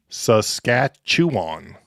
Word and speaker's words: Saskatchewan: Saskatchewan. Was that better? Saskatchewan. The cat chews on.